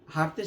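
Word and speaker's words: ح: এই হরফের উচ্চারণের স্থান হলো হলকের মধ্যখান হইতে।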